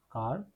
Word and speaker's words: quart: This is pronounced as car, and this means a quarter or quarter past.